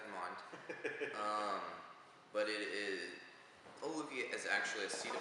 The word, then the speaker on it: Ololiuqui: Well, first off, it is spelled as it sounds, so keep that in mind. But it is, Ololiuqui is actually a seed of a plant.